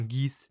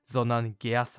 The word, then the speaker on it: Geass: Et avant que j'oublie : je sais que Geass ne se prononce pas Geass mais Ge Ass et je vois déjà les commentaires devant moi.